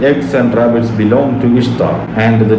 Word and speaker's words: Ishtar: Ishtar isn't pronounced Easter. It's pronounced exactly as it is written, Ishtar.